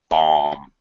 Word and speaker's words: bomb: the repercussions pronunciation bomb don't pronounce the final B bomb bum that's it perfect